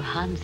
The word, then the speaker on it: Hans: name it is I can't call you Hans anyway it rhymes with France call me Max that